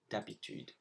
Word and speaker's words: habitude: And then for sentence 2 and 3, on top of the S's, you also have the H of hiver and d'habitude, which you don't pronounce.